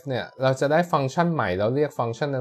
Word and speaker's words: ฟังก์ชัน: นะ ฮะ อัน นี้ เวลา สะกด ฟังก์ชัน เนี่ย สังเกต นิด นึง นะ for ไม่ อากาศ งู กอ ไก่ คัน นะ ฮะ แล้ว ก็ โทร ทาง ไม่ เห็น อากาศ น้อง หนู นะ อ่าน ว่า ฟัง ชัน และ ฟัง ฉัน คือ